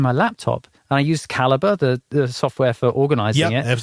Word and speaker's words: Calibre: That software, Calibre, not ER, UR. Some people might spell it differently, but that's a great piece of software.